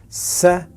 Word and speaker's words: seventy: And in the third and last syllable we have two sounds, t and e. Seventy, seventy, 70, 70.